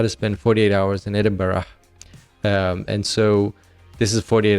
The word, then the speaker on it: Edinburgh: Edinburgh or Edinburgh which I say a lot Edinburgh that's how they pronounce it so that there's a little travel